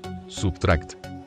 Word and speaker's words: SBTRKT: la máscara puesto ocho sbtrkt pronunciado sería subtract es el proyecto musical